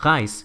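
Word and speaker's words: rejse: Pero si la R está antes de la vocal, adopta este sonido como gutural que me recuerda al francés y al alemán, como en el número 3 que se dice tre o la palabra reis que significa viajar.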